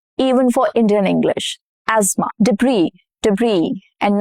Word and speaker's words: debris: Debris, debris, and not debris, debris.